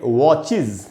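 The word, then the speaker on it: watches: या ईएस लगाया अगर, तो उसमें भी एस या ईएस का उच्चारण इज करके होगा। जैसे वॉच का मतलब होता है घड़ी, और इसमें ईएस लगाया तो इसको पढ़ेंगे वॉचेज, इसको भी वॉचेज नहीं बोलना चाहिए।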